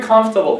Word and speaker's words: comfortable: If you feel very comfortable here, and remember, it's comfortable or comfortable. Both are correct. But people usually say comfortable. So like this part, is like not pronounced, silent, comfortable, comfortable.